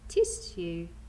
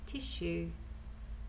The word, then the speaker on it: tissue: we have is tissue tissue when we say it sounds like there's a shh tissue but we're going to spell it like this tis you after speaking a push